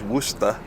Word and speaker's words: Worcester: is still here we're going to worcester pronounced worcester instead of how people in massachusetts would pronounced it which is wooster and there could be